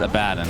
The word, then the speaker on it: Abaddon: in dota 1 days i believe he was called abaddon no it's the opposite it was the opposite yeah okay i got i got the correct pronunciation is a bad and i've had this conversation